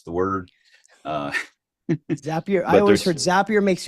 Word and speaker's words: Zapier: stage of how familiar are you with with zappier and that that's the first thing is is how do you pronounce the word uh zapier I always heard zappier makes you happier zapier